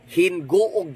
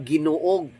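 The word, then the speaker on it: Gingoog: Hinguog di ay dili ginuog.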